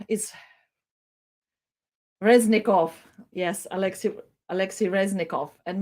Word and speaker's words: Reznikov: station was expressed by ministry of defense alexei razitski harassing sorry my pronunciation is reznikov yes alexis alexi reznikov and maybe let's uh